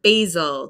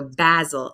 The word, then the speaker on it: basil: But in British English, that would be basil, which is also a name in the UK too, if I remember from TV. So basil, and for us, the long A sound, basil, like ABC, the long A sound.